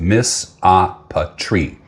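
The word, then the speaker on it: misopatry: There's a word for you, pronounced misopatery.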